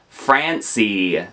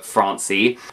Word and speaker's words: Francie: Barbie's mod earn cousin Francie I feel like I have to say it like Fran fancy not Francie Francie anyway she was